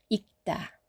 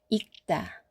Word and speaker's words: 읽다: 다음 리을 기역의 조합에서도 기역을 선택합니다. 읽다, 읽다.